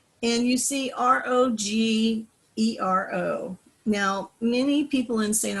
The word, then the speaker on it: Rogero: anya the sanchez of my grandfather's name was accented on the first syllable and you see r-o-g-e-r-o now many people in